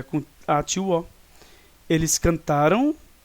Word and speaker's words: cantaram: Não, na verdade é um uso incorreto da sílaba tônica, né? Cantaram, e aqui é cantarão. Então a sílaba tônica está aqui no Rá. Tá? E aqui também nós temos a sílaba tônica, mas é no Tá. Ou seja, também nós temos o Rá, mas a sílaba tônica não está nele, está no Tá. No pretérito perfeito, nós temos então a sílaba tônica, na verdade, na sílaba antes do Rá, e no pretérito mais